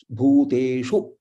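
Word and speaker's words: भूतेषु: So Bhu is Dirgha, Te is also Dirgha, Shu is Rasva. Bhuteshu, Sarveshu, Sa Rasva, Rve is Dirgha, Shu is Rasva, Sarveshu.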